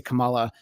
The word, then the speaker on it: Kamala: his friend Kamal Khan Ms. Marvel's name pronunciation is the Pakistani way to say Kamala, and Kamala Harris's pronunciation is the Indian way to say the name.